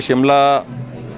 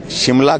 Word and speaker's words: शिमला: और उस दृष्टि से क्योंकि अंग्रेजों को श्यामला बोलने, माँ श्यामला बोलने में कठिनाई आती थी, ये प्रोनाउंसिएशन में बिगड़ते बिगड़ते श्यामला से शिमला हो गया।